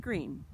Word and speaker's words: Greene: name is green that's green with a silent e at the end and i just moved